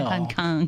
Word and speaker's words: 한강: 네, 한캥이라고 발음을 하네요. 네, 한강. 네. 고쳐줘야 되는데 한강이라고 강이라고, 말이죠.